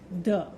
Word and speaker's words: ye: used instead, resulting in the word ye, which should therefore technically still be pronounced as the.